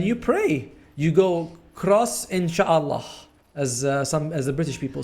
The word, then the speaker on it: inshallah: You go cross inshallah, as the British people say. How do you actually pronounce it? It's just inshallah.